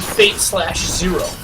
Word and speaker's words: Fate/Zero: Mitch, what's your opinion on fate/zero? Uh, I like fate uh fate zero. Fate zero. No slash at all. Well, there is a slash, but you don't pronounce a slash.